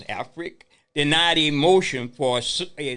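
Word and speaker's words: Africk: Alfrick, that's how you pronounce it, Alfrick, denied a motion for a summary judgment brought by the St.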